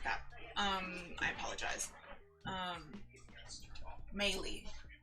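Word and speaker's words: Meili: um i apologize um maylie is how you pronounce her last name okay so she leaves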